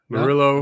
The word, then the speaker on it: Murillo: I'm pronouncing that wrong for sure. Murillo.